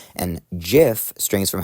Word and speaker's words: GIF: So now you have J-I-F, Jif, the correct pronunciation.